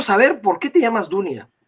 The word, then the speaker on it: Dunia: Dunia, pero como ellos no pronuncian la U, sino la O, me pusieron en papeles Donia.